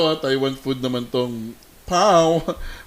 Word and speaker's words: Bao: Taiwan food naman tong Pao. Bao siya pero pronunciation daw Pao.